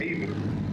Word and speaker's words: Evert: Also, I heard you pronounce my name as, but it's pronounced Evert.